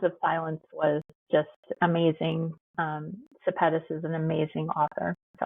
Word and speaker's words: Sepetys: Septia? Is Oh, that how you say it? Ruta Sepetys and Sepetys, that's it.